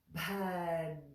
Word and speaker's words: Bhadrāṇi: So again, draw that tongue back from the top of the front teeth on the palate, behind that little bump, right behind it. That's where we put the tongue for the na, na, na, na, na. See how it sounds like it's coming from a little cave back there. Na, na. So that word then is Bhadrāṇi, ni. Bhadrāṇi, Bhadrāṇi, Bhadrāṇi.